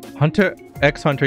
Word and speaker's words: Hunter x Hunter: on to something how Hunter x Hunter even though you don't pronounce the X spy X family and